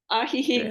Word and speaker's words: Ajijic: Ajijic actually is a Nahuatl Indian word, now spelled with a J instead of an X, but it is an ancient word.